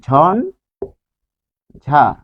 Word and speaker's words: ঝঞ্ঝা: ঝ দিয়ে হচ্ছে ঝঞ্ঝা, ঝঞ্ঝা, ঝ, ঝঞ্ঝা। তাহলে এটি উচ্চারণ লিখবো হচ্ছে ঝন ঝা, ঝঞ্ঝা।